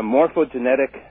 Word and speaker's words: morphogenetic: Well, Rupert postulates the existence of what is referred to as a morphogenetic field. Mm-hmm. Am I saying it correctly? Morphogenetic? Yeah, the morphogenetic field, exactly. Okay.